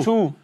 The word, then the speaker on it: Zhou: Voilà, mais je croyais qu'on disait Zhou, mais pas du tout. Non, Chou.